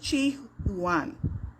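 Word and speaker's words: Qu Yuan: back to uh Chinese poet and politician named Chi huan it's spelled q-u -y-u-a-n and it is alleged that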